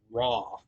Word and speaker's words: Roi: all right uh number 14 is the other song that is uh four minutes long and that is raw uh which is spelled different it's spelled r-o-i um now I will